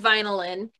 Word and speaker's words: VYNILYN: So we're actually called VYNILYN, and I Finalin, know a yeah. lot of people get that. It's spelled Vinylin. Yeah. It's an easy mistake to make.